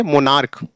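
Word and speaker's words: monarch: हो गया यहां देखिए एमओ एन ए आर सी एच या मोनार्क नहीं पढ़ेंगे क्या पढ़ेंगे मोनार्क ऐसे यहां क्रोम के ओस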